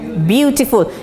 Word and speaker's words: beautiful: No, beautiful. As I said, the T is sounded beautiful.